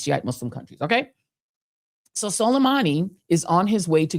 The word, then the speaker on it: Soleimani: Donald Trump ordered a drone strike on Major General Qassem Soleimani near Baghdad International Airport, where Soleimani Soleimani is how you pronounce his name.